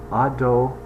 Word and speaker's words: Adonai: This is the name Adonai that we use to pronounce the name Yud and He and Vav and He.